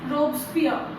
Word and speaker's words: Robespierre: The spelling is like this, Robespierre, but you pronounce it as Robespierre.